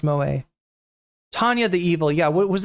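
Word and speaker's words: moe: Mo anime girls. Moa, it's pronounced Moa.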